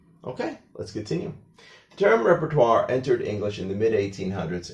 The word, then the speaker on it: repertoire: is not pronounced and if you have an o-i combination in French, it always has like a (wah) sound to it together with r becomes (twahr). So that's why we pronounce it as repertoire.